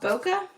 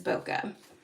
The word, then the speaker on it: bokeh: a pretty one and this is called bokeh beautiful bokeh I think that's how you pronounce it at least that's how I pronounce it it is boka then there you go